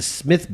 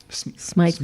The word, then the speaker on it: Smythe: in is going to be 8:30 at the Smith Building. Smythe Building. Smythe? I know, it's spelled the same.